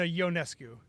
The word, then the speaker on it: Ionescu: Sabrina Ionescu is the proper pronunciation. Thank you. Scott, we have gotten that wrong on the podcast before. So I have to go apparently. Ionescu.